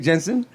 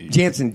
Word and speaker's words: Jansen: Jake Jensen. Welcome, my friend. Thank you for coming in. You're pronouncing his last name wrong. Yeah. Jansen, Jake Jansen.